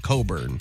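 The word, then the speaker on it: Cockburn: Yeah, cuz it's a last name, but they pronounce it Coburn.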